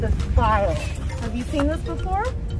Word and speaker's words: spile: It's called a spile. Have you seen this before? Okay, I want you to remember this name, spile. S-P-I-L-E. It rhymes with smile.